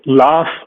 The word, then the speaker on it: laughs: I'm also least rights or laughs where you have the gh pronunciation or the sorry the gh spelling but pronunciation is the F sound right and this was